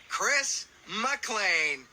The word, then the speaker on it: Chris McLean: I'm your host, Chris McLean.